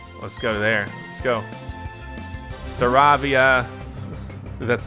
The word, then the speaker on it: Staravia: Staravia.